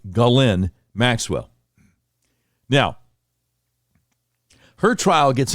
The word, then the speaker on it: Ghislaine: So the correct pronunciation sounds almost like the male name, Glenn. Her name is pronounced Ghislaine Maxwell.